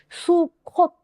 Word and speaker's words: 수콧: 하누카 여러분 12월달 되죠 그 수컷이 아니라 수컷입니다 암컷 수컷이 아니고요 제가 죄송합니다 부산 사람이라 발음이 수콧 예 수콧 이렇게 수코 이렇게 씁니다